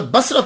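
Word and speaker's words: بصري: के ऊपर जबर पढ़ा बसारी बन गया तो इसका माना होगा मेरी आ आख बसर कहते हैं आंख को और बसरी मेरी आंख तो हजरत राबिया बसरी रहमतुल्ला अलहा जो है व इसे प्रोनाउंस किया जाएगा नाम के बारे में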